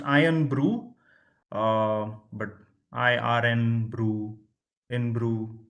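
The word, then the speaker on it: Irn-Bru: Iron Brew in Brew is the right answer. Wizards plus 20 to you. So it's pronounced Iron Brew, but IRN Brew in Brew also works.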